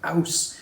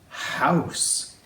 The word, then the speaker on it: house: It's house. House. House. House. Now, there's five letters in that word, but the o u goes and the e at the end is silent.